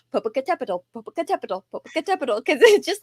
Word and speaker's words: Popocatépetl: It has 7 syllables, which is one reason why it's so hard to say.